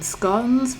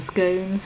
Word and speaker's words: scone: where you're from so you can either call them scones rhyming with gone or you can call them scones riding with rhyming with